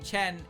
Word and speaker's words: Chen: The pronunciation of her name, Chen, is an obsolete Chinese reading of a character in Japanese.